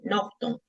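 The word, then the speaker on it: Naughton: Se escribe con su apellido N A U G H T O N. Nocton.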